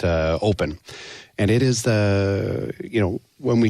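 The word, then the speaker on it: Opn: It's called Open, and it's spelled O-P-N, but we pronounce it Open.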